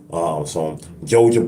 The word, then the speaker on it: jojoba: Some argan oil, some jojoba oil, as I like to call it, but they call it jojoba oil because they pronounce the H as a J, which, I mean, the J as a H will never ever, I